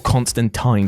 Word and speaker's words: Constantine: Keanu is far from anyone's ideal casting to play John Constantine, or Constantine depending on how you want to pronounce it, but the film